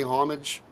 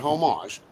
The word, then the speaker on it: homage: And I guess lastly and most importantly, homage, not homage, homage.